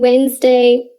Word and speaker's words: Wednesday: you can probably hear there are lots of letters in wednesday that don't get pronounced say it with me